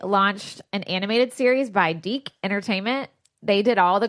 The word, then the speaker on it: DIC: little kid voice going dee. Anyway, maybe it was just so we didn't pronounce it dick.